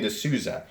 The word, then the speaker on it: D'Souza: Now, Damned Designs, the gentleman who is running that company, his name is Adrian D'Souza, is how you pronounce it.